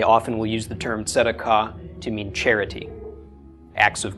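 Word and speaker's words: צדקה: So tzadi. So tzd. Then we have the a, the a of the komets, the k of the kuf, the a of the komets, and the hey at the end is silent. So tzedakah. Tzedakah is how this would be pronounced.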